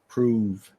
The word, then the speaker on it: prove: The spelling is prove, but the pronunciation is proove.